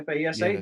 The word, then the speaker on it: FASA: I know there's a novel written about him, and I know that FASA, is that how it's pronounced? FASA? Yeah, FASA, that's that's the right.